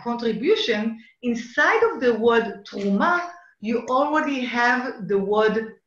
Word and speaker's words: תרומה: In Hebrew it's called truma. And when you are when you are willing to be a truma, a contribution, inside of the word truma, you already have the